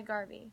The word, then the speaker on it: Garvey: earphones and push play rhymes with Harvey some people wonder why Garvey why not Marcus so